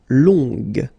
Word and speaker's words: longue: Okay, so long, remember you don't pronounce the final G, will become longue. Okay, so phonetically it's longue, g, longue.